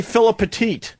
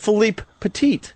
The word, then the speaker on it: Philippe Petit: Most people say Philip Petit. So I purposely was trying to say his name right, so I said Philippe Petit.